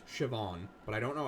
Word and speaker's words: Siobhan: I know that if I know that it's S I O B H, it's Siobhan.